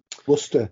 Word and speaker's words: Worcestershire: I mean, Worcestershire really nice. Sauce. I mean, some people don't pronounce that. Worcester sauce. Worcestershire sauce. No, it's not Worcestershire. go to Worcester.